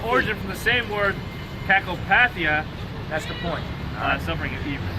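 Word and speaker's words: κακοπάθεια: What's how you pronounce that? Kakopathia.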